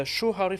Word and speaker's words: shuhari: Even one of the best things that I learned is the shuhari philosophy. Each syllable, shuhari, Shuhari.